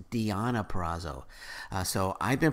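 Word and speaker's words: Deonna Purrazzo: pronouncing her name wrong that it's not diona praso it's diana perazzo so i've been pronouncing her name wrong and i apologize on that so it's diana perazzo defending the impact knockout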